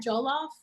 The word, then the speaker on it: jollof: Oh my gosh, have you ever had jollof?